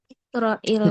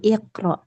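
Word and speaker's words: اقرأ: Nah, yang iqrai itu sebenarnya tetap sukun ya, tetap sukun karena dia kalimat perintah harakatnya tetap sukun. Tapi kalau mau dibaca ya bacanya tetap sukun karena enggak ada alif lam setelahnya. Jadi, iqro anta al-Qur'an.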